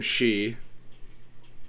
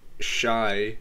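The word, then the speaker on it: Xi: this alternative reality game she that's actually how you pronounce it it's not shy or sign or whatever it's she um sodium which was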